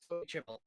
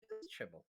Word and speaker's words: Chimel: Somebody said, Chimel. Chimel.